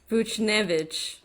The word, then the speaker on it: Buchnevich: He decided to get in the way of a puck and get his smash broken into, and then freaking Buchnevich, how do you say his name? Vucinovic.